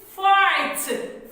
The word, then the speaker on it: fight: the action and say fight fight now we will drop the sound of gh and they will be silent and saying jesus is